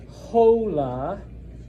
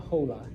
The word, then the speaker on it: hola: When you when you see an H in Spanish, ignore it. Don't pronounce it. Okay. So So it's not hola. I'm not going to say hola, Jack. Hola, Emma. No, it's just hola. Hola. You pretend it's not there.